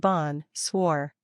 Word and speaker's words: bonsoir: friends four switch to bonsoir in the evening pronounce it Bon swore the literal translation of this word is good